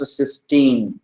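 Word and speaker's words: cysteine: amino acid with the free thol group is pronounced cine and this dulfi form is pronounced as ctin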